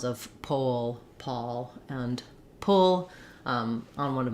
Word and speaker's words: Paul: For the we mostly have A when it's with an L, except for Paul, the name, and Paul, like a pall fell over them, have the same spelling. Not the same spelling, the same pronunciation.